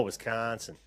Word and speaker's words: Wisconsin: Wisconsin. Wisconsin. Oh, Wisconsin. You have to like the O is kind of like elongated, I guess. It's just A little how it goes. elongated and a little nasally. Wisconsin.